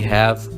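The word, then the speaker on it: هاء: Then we have Noon, and it sounds like a normal N. For example, Nahla, which means a bee. Ha, and we pronounce it H like a normal H.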